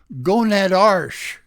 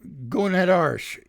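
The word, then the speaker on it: gonadarche: of age tenor 2 is onset of gonad arsh I'll spell that for you g-o-n-a-d-a-r-c-h-e I think it's uh similar to minarsh for women which okay going at arsh which is in large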